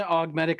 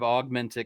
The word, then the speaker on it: augmetic: Like, one augmetic eye is absolutely something that, and I say augmetic instead of augmentic because I'm used to the British pronunciation from all the books on tape, and you won't be